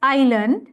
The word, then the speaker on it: island: මේක pronounce කරන්න island කියලා නෙමෙයි, it's island, right? Some are mispronouncing as island.